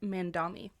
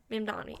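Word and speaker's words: Mamdani: I think it's I thought I was pronouncing it Mandami. Yes, that's right. Mandami.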